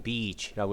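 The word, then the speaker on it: beach: 방문했을 때 요 여러분 이건 발음 진짜 되게 조심하셔야 되요 이 다음에 특히 어 짤 개발을 마시면 매우 곤란한 상황이 벌어질 수 있으니까 이건 b 이치라고 이렇게 길게 발음 하셔야 되요 해변가에 방문해서 파우다 펭귄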